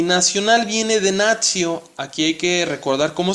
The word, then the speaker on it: natio: Recuerda que la T, seguida de una I y de otra vocal, se pronuncia como TS. ¿Sí? Entonces aquí vamos a leer esta palabra como natio.